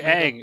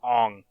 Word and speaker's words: Aang: Aren't all they say Aang a million times in the fucking show. We're gonna call him Ong.